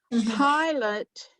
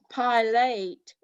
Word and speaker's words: Pilate: that was just the name of that place pilate is not pilate even though there's an e on the end